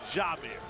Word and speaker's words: Jamir: And she made sure I knew to pronounce it Jamir.